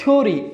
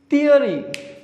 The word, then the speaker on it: theory: Lots of students mispronounce this word. They always say like theory. It is not theory, it is theory.